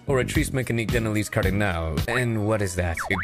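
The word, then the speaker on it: Oratrice Mécanique d'Analyse Cardinale: what is an or meis Cardinal what it's pronounced orri mean Denis cardal and what is that it passes judgment on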